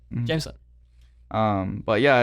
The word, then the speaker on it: Jameson: but uh it's pretty this is like gym and then the sun if you just dissect it like that you know jameson um but yeah it's